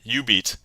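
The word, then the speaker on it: jubeat: And uh it's spelled J U B E A T, but the Ju is Jew or is U. So yeah, you beat and yeah, uh score, right?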